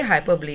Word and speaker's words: hyperbole: Next, हाइपरबली. Spellings note कीजिए, HYPERBOLE. इसको हाइपर बोल नहीं बोलना है, इसकी प्रोनाउंसिएशन है हाइपरब्ली. Please repeat, हाइपरब्ली.